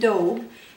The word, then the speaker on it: daube: hi today I'm making beef and Dove and it's spelled D Au U be e and it's